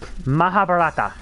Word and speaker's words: Mahabharata: Mahabharata. That's how you say it.